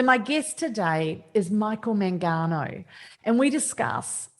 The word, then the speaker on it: Mangano: Mangano? Mangano, but in Italian it's Mangano.